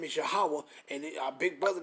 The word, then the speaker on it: Yahawah: You say his name, our Father's name is Yahawah, and our big brother name is Yahweh Shai.